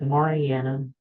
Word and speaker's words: Mariana: It's pronounced Marianna, but it's easier to just stick with Mari.